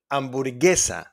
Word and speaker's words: hamburguesa: And in GUE, like in hamburguesa, guerra, guerra, we don't pronounce the U.